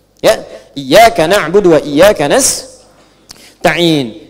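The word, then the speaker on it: نستعين: Iyaka na'budu wa iyaka nastain. Ada yang baca pakai kasrah. Nistain ya. Nistain ini bacaannya dari Bani Asad, Rabiah, dan Bani Tamim. Tapi kita baca harus menggunakan fathah kalau untuk kita ya.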